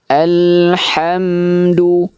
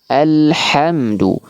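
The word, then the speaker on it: الحمد: Ha alhamdu. Alhamdu bukan alhamdu ya. Bisa dibedakan ya.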